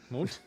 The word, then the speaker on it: Mundt: I know how to pronounce it. Bring him home. Johnny Mundt. Mundt. Get him where he belongs. Johnny Mundt.